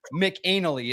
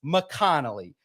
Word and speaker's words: McConnell: And so I messaged her and I said, your name is not Haley McAnnally, is it? And she's like, of course not. And she said, it's McConnell.